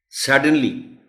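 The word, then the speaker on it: suddenly: सडनली, इसमें भी सिर्फ स्ट्रेस है, खास बात जो एस पर है.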